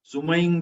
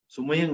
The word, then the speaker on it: सुमयिं: उसव मजियंच वंदे संभव मभिनंदनम च सुमयिं च, सुमयं नहीं, सुमयिं च, हाँ ई, राइट, सुमयिं च पौमपहम सुपासम जिणम च चंदपहम वंदे।